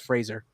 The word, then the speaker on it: Fraser: he go he goes thanks brandon frazier he goes it's fraser i was going oh